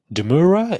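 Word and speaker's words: demurrer: Because the defendant, Christo Wallace's Demur, um, Deura is how you pronounce it, was mostly overruled.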